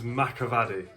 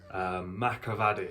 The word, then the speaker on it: Mcevaddy: My surname is Macavadi. Macavadi. It's a hard one, so that's how you say it. It's weird because it's spelled Mcevaddy.